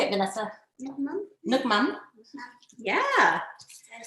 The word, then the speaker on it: Nước mắm: Nước mắm. So you say, how do you say it, Vanessa? Nước mắm.